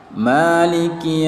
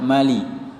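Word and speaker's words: مالك: arrohmanirrohim tidak boleh arrahmanirrahim Maliki yaumiddin mali-mali bukan maling karena dia di sini ada tanda panjang Alif ya kecil yang ditulis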